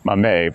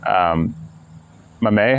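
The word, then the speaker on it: Maame: Oh, here we go, pronunciation. Mame. Okay, let's start over then. Mame by Jessica George. Mame has many meanings in Twi, but in my case, it means woman.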